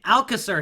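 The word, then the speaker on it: Alcácer: up Alka sir yes I have learned how to pronounce his name Alka sir here 82 rated good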